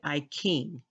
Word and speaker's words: I Ching: I noticed that um in China they pronounce words ch with k a k sound like I Ching is not iting it's actually I King so I kit or